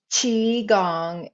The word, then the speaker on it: qigong: limiting beliefs and so qigong is pronounced chi gong is an energy work